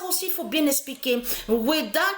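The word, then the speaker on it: Wehda: Weda qui s'écrit W-E-H-D-A. W-E-H-D-A. Il n'y a pas Weda, W-E-H-D-A.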